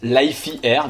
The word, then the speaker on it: Lify Air: Alors je t'avoue que moi instinctivement j'aurais dit Lifey Air, mais je viens de regarder cette courte vidéo et eux-mêmes ils prononcent Lifey Air, donc on va le faire très à l'américaine, you know, pas de problème.